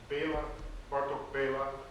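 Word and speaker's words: Bartók Béla: Hungarian, which is a language, Bartok Bela, the accent is on the first syllable, and so here you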